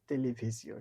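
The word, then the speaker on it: télévision: হইগাতে লা টেলিভি দেখেন এই বানানটা টেলিভিশন কিন্তু ফ্রেঞ্চের উচ্চারণটা হচ্ছে তেলিভিসিও শুধু দুইটা আস বসে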